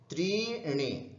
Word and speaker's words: त्रीणि: एकम, द्वे, त्रीणि, चत्वारि, पंच, षट्, सप्त, अष्ट, नव, 10। एकम एकम द्वे त्रीणि, यहां पर ध्यान रखना त्रीणि मत बोलना, दीर्घ है, त्रीणि त्रीणि, चत्वारि, वा पे